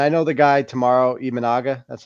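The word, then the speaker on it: Imanaga: And I know the guy tomorrow Ianaga, that's how you pronounce it.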